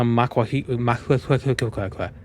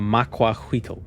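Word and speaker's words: macuahuitl: Oh, it's like a maquahuitl. A maquahuitl. Or maquahuit, depending on how you want to pronounce it.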